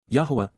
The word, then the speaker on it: Yahowah: YAHOWAH, YAHOWAH, the proper pronunciation of the name of Eloah, God as